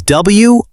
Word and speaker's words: wrote: And the spelling is W-R-O-T-E. The W is silent. Yes, we do not pronounce the W.